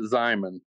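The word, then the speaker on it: Xiamen: I think everyone has a different pronunciation. I was a Hogue Zyman. I heard the Hogue Jamin. Todd may have another way of saying that as well. Okay. We call it Zyman.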